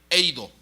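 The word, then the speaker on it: εἴδω: Viendo es la palabra de la concordancia Strong 1492, que significa, que se pronuncia eido.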